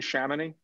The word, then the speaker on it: Chamonix: opposite each other on chamonix in the corner well they'll be in the same location yeah is that how you pronounce it jane shamany yeah it's french i don't speak french don't